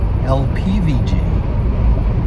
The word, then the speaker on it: LPvg: LPvg shall forever forward be officially pronounced LPvg.